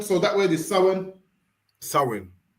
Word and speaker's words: Samhain: So it's spel but it's pronounced sin. So that word is sin.